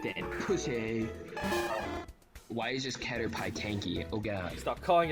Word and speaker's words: Caterpie: It's Caterpie. I hate you. Oh my god, bro. It's Caterpie. I'm gonna murder you. Do it then, pussy. Why is this Caterpie tanky?